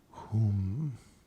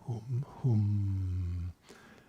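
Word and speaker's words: hūṃ: Okay, so if we were spelling this in Roman letters, it would be something like ho m. That's not really how you say it or spell it, but close enough.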